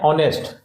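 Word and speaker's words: honest: यह है ऑनेस्ट, ऑनेस्ट, तो ऑनेस्ट में एच साइलेंट है, ठीक है?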